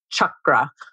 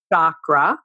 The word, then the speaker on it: chakra: So first of all, I would request my Sanskrit teacher would be very happy if we would use the word chakra, not chakra. Okay. And that's a really common pronunciation issue. Just remember, it's like chocolate chip cookies. That'll help you remember. And also, it's not French. It's Sanskrit. It's not like chakra. It's a Sanskrit word.